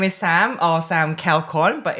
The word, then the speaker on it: Kaeokon: Yep, so my name is Sam, or Sam Kaeokon, but it's funny to pronounce with my surname, but Sam is good.